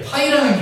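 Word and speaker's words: Π: 자, 중복 순열은 이제 어떻게 표현을 하면은 자, 이렇게 파이라는 기호를 써요. 이거 이제 파이라고 읽어요. 파이.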